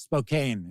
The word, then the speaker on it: Spokane: want to pronounce it I would always call it Spokane but then I had people there tell me no no it's Spokane and I was like oh okay all right you live here W